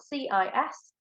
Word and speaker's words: cis: So it's spelled CIS and pronounced cis.